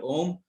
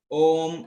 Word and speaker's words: Om: the word Om, and the Om has got two words there. It has got three actually words, A, U, and M. And when we pronounce the Om, we have either we pronounce O as a longer term and M as a shorter term.